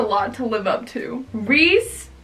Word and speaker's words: Rhys: Reese, and it's spelled like Reese Larson's name. Not like R-E-E-S-E, it's R-H-Y-S.